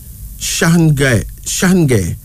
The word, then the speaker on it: Shange: Shange. Shange. S-H-A-N-G-E, pronounced Shange.